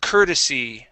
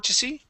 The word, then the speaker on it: courtesy: Okay, so instead of saying c court c court cortesy. Okay, the word is cur courtesy. Courtesy. I'm sorry. One more time. Cur courtesy. Courtesy. Okay. Um All right. So the o r there, don't worry about it being an o r, okay? And saying c court c court cordy. It is cur like an e r sound like